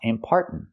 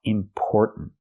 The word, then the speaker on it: important: say one impart note the word is not pronounced impart it's pronounced important important not are like car and far important but or like Store and More or important let's talk about the third syllable it sounds like important important but there's a stop T at the end important make that stop